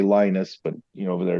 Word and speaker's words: Linus: We were on tour with a German techno thrash band called Obscura, and the bass player, we say Linus, but over there it's pronounced Linus.